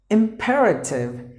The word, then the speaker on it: imperative: The next word is imperative. Imperative. There are 4 syllables. The letter E is silent.